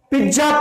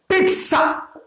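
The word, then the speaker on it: pizza: देखिए, इसको लोग पिज्जा पिज्जा बोलते हैं, बट करेक्ट प्रोनाउंसिएशन इज पिट्सा पिट्सा पिट्सा पिट्सा।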